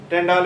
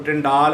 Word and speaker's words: Tyndall: देखो प्रोनाउंसिएशन में वेरी कोई ਇਹਨੂੰ ਟਿੰਡਲ ਇਫੈਕਟ ਵੀ ਬੋਲਦਾ कोई टिंडाल इफैक्ट भी बोलता है कोई टिंडाल इफैक्ट बोलता है। प्रोनाउंसिएशन में भी वेरी ठीक है प्रोनाउंसिएशन जी वो वेरी कर सकती है।